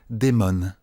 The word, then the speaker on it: Diamond: Patricia Diamond, ça se prononce Damon.